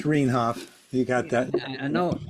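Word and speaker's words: Rienhoff: So the one thing I would ask, Peter, is that you spell my name R-I-E. What, R-I-E? It's R-I-E. Oh, here. Yeah. But it's pronounced Rainhoff.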